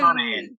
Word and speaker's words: Monaghan: Yeah, it's Monahan.